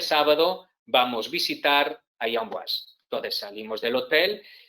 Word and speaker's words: Amboise: Vemos ahí abajo, Amboise, se escribe Amboise, se dice Amboise.